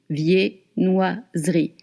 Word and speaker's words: viennoiserie: Viennoise, and then ri, viennoiserie. Do not look at it. Do not pronounce the E between the S and the R.